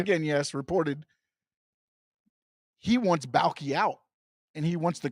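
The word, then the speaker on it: Baalke: Yeah, Trent Balky.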